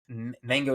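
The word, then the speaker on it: MHANGO: projects I'm working on Mango I mentioned this a couple times mango is a brand that I want to create that's mango it's spelled mha NGO mha for mental health awareness and then what I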